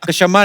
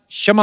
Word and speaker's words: क्षमा: मैं कशमा चाहेगा। शमा नहीं क्षमा होता है।